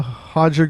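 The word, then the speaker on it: Roger: other some more so Tim Kennedy versus uh hoger Gracie is how you say his name uh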